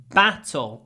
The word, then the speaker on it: battle: years ago battle okay how can you say battle so it doesn't sound sound like B BBB remember when I talked about bet and bat B bat bet battle B you need to curl your lip over your top teeth battle b battle battle then you'll get a good a battle a great battle next one on he